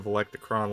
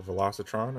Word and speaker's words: Velocitron: here we have Crasher from the valecticron line as well or velocitron as I say it wrong again I have done some